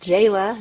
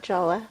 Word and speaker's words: Jaala: My I'm Jaala, which is tricky, and it's pronounced Jaala, not Jala.